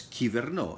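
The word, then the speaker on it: κυβερνώ: In Greek, it is pronounced as kiverno. In ancient Greek, it was pronounced like kuverno, hence govern.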